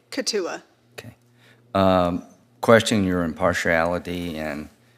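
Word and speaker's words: Keetoowah: Katua.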